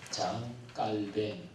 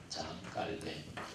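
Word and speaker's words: Jean Calvin: 요한 칼빈을 이제 그 사람이 프랑스 사람이었으니까 프랑스 발음으로 장 깔뱅 뭐 이렇게 이제 요즘은 많이도 그렇게 발음을 해요. 장 깔뱅.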